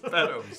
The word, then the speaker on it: Beddoes: Beddoes, that's the one. It's Beddoes. Yeah, now that you said it right, Beddoes is like, yes, sir.